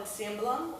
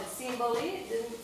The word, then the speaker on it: cimbalom: In Hungary, it's called a cimbalom or cimbalom. There's a lot of different ways people are pronouncing that. It's called a cimbali. But cymbal, like in the klezmer world, we say cymbal, but yeah. There's a lot of different. Every time I go someplace, somebody pronounces it differently, which is beautiful because